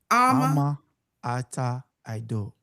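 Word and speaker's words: Ama Ata Aidoo: Ama Ata Ado. Yeah. Yes. Say it again for me. Say it again. Ama Ata Ado.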